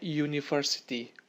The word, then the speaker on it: university: Anda lihat di sini huruf awalnya U, namun ketika pada saat pengucapan, ketika dibaca, itu dibacanya university, huruf Y duluan, huruf mati duluan.